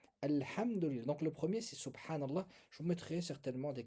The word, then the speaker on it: subhanallah: Donc le premier c'est subhanallah.